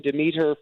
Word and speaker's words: Demeter: So we just wanted to give a consistency so everybody, and it sounds good on the ear. It's Demeter. The way that Liam Cunningham, who plays the captain, says Demeter, it sounds so great.